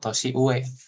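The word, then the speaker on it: 年上: Tosi uue artinya orang yang lebih senior dibanding kita.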